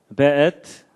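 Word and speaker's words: וְאֵת: 그 다음에 앳, 하샤마임, 베엣. 요게 이제 W인데도 여기에 독일식 발음을 해서 베 이렇게 읽는다고 합니다.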